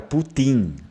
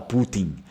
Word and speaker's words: putin: que é a palavra Putin, daí é outra coisa, né? No Vêneto a gente não fala Putin, a gente fala Putin, com a sílaba tônica na letra I, Putin.